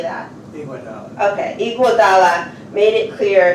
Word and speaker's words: Iguodala: Iguodala.